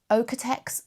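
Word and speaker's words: Oeko-Tex: And I became quite early on, I became aware of something called the I think it's pronounced Okitex Okitex standard.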